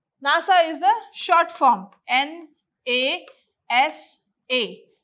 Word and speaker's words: NASA: noun phrase okay like nasa nasa is the short form n a s a we are not pronouncing it as n a s a we are pronouncing it as a word nasa okay so we call